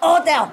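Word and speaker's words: hôtel: And if it's an age, you just don't say age. You know, you don't say hotel. You cut the ha ha ha. You cut the ha away. You say hotel.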